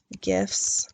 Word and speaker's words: GIF: would say in 2014 President Obama pronounced gif with a hard G now when you do